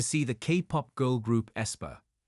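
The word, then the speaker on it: aespa: the kop girl group esper pronounced espa on Saturday February 8th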